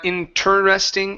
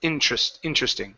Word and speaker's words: interesting: Edson, it's interesting. Yeah, so it's not interesting, it's interesting, okay? So you don't pronounce the ter, it's tr, okay?